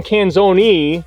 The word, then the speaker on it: Canzone: That's how you pronounce it? Well, that's how my grandfather pronounced it. Because it ends in an E. Yeah, I tell everybody the same thing. So I'm Canzone, technically, but here I just say Canzone.